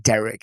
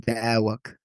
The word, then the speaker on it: Derek: has a thick accent, she's never pronounced my name Derek. It's always been Dwak.